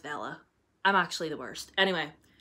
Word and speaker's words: Vela: series by Vela Roth I've been calling her Villa and it's pronounced Vela I'm actually the worst